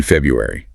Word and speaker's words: February: Third, listen for those pronunciation the silent D in Wednesday, the dropped R in February.